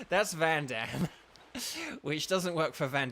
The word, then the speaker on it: Vandham: But like, so his name is spelled Vandham, right? And you're like, oh, so it's like Vandam, like that's Vandam. You know, it's like, but they all say Van Damme, and it is Van Damme.